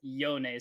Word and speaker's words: Yone: very soon again just a reminder it is yonei so please type in yone you guys like